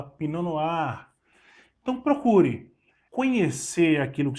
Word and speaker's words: pinot noir: conhecida entre as brancas pino no ar não é pinot noir stali pinot noir mas você fala pinanoar então procure conhecer aquilo